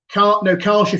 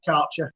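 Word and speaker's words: Kärcher: Karcher for me, not Karcher.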